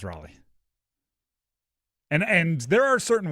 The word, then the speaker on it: Raleigh: Like the name L E I G H, which is the end of Raleigh, is Lee.